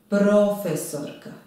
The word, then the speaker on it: profesorka: Profesorka. Pro. Akcenat je na prvom slogu.